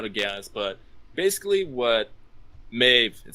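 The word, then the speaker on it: Medb: Basically, like, if you started America, you should notice, and you've probably been able to guess, but basically what Maeve, it's pronounced Maeve, right? Yeah, it's Maeve.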